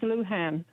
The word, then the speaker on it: Lujan: Now, how do you pronounce the governor's middle name? It's Lujan.